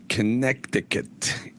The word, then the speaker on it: Connecticut: And I asked Mad Dog in the control room, why do they say Connecticut? Connecticut. Why don't they? That's the way it's spelled, right?